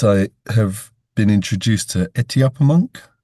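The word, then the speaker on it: Etuaptmumk: it reminds me, and I'll say it wrong, Lewis, but it since I have been introduced to Etiopamunk, Right.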